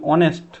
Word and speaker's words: honest: ঠিক তেমনই আমরা যদি বলি অনেস্ট, HONEST, অনেস্ট, এটাও তো একটা কি, এটাও একটা মানে কনসোন্যান্ট ওয়ার্ড।